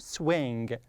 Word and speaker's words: swing: gxn so number two Swing Swing Okay so I say swing okay but you should not say G okay Swing Swing okay